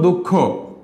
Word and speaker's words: দুঃখ: এখন তোমাদের প্রশ্ন থাকতে, তাহলে দুঃখ, দুঃখ কি খকে দুইবার হবে, হ্যাঁ এক্ষেত্রে আমরা বলবো দুঃখ, কারণ খ দুইবার হবে না, কারণ ক খ এগুলো